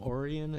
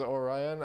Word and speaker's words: Orion: there lethal company cuz he say you guys want to go to orian and I'm like what the is orian and then like bro when you said it was Orion I was like you're